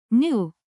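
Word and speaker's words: nu: properties particularly when the smoothness parameter new pronounced new is set to 2.5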